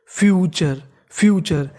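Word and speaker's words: future: फ्यूचर देखिए अगर आपको इंग्लिश की किसी भी मीनिंग के आखिरी में TURE लिखा मिले तो TURE को हम लोग पढ़ते हैं चर।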